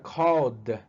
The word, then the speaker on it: called: Si termina en ed, la ed se va a pronunciar como si fuera D. Entonces ya called.